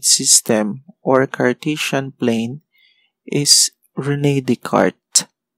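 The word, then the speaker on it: René Descartes: or cartesian plane is rene de carte pero it is spelled as rene descartes that is rene descartes kasi french mathematician so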